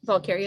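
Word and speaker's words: Valkaria: dirty bingo, but Monday during the day, that's when we Went to, went to Valkyria Airport. I think that's how you say it. yeah, Valkyria is correct.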